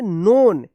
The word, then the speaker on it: known: ठीक है, यहाँ पे भी एन से पहले के आया है तो के साइलेंट हो गया है। KNOWN क्या पढ़ेंगे? नोन।